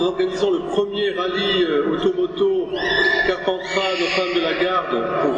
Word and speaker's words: Carpentras: Alors Père Léopold, il va aller à Avignon, c'est plus facile à prononcer que Carpentras, surtout que on dit Gigondas, mais on dit Carpentras, et pourtant il y a un S, donc je comprends très bien.